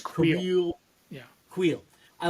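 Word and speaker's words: Kuiil: I like the Krill. Did I say his name right? Because I always feel like Queel? Yeah, I always stumble on that one. I think it's Queel.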